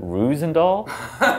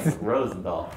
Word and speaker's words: Roosendaal: Because of the two O's, I always used to pronounce it Roosendahl, like an American. Right. Rosendahl.